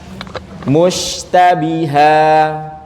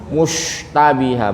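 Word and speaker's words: مُشْتَبِهًا: fokus di rusinnya ya musytabiha musytabiha Ini juga gariskan ketika dah jangan sampai dimonyongkan terus ditarik Bapak Ibu bukan gini ini yang salah mustabiha bukan tapi musytabi kalau dimonyongkan suaranya nanti tebal dia musy tapi musytabih bab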